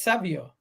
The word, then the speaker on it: Savio: the one time he does how do you pronounce his name it's Savio yeah but he's got he's got a nextn